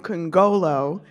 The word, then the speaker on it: Nkongolo: do not know me my name is can go low that's what you would have said C you